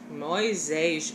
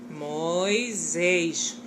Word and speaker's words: Moisés: Moisés, mais uma vez a explicação de novo. Do S no meio de duas vogais, ele tem som de Z. Moisés.